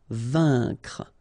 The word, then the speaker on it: vaincre: A-I-N together, here it's un. Vaincre.